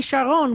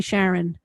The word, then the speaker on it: Sharon: and by the way israelis refused to call me sharon which would be how you'd pronounce my name uh with a biblical or even with a hebrew name no israeli will call me that they only call me sharon like they kind of even emphasizing my name which is